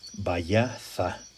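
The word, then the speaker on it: בית: Es el H1004, Bayaza. Y pronunciándolo correctamente, Bayaz, como si fuera TH al final, Bayaz.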